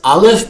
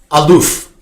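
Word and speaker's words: אלף: The small alf in the verse can be pronounced not as al if but as aloof which we can translate as noble which Torah study is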